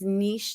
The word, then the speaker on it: niche: guess about Niche it's niche not Niche okay Niche like n-e-e-s-h um if you pronounce